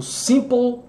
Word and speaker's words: simple: Olha só, simple, simple, língua no céu da boca, sempre aquele macete aqui do PLE, BLE, O, né? LE. Língua, o E mudo, PL, simple.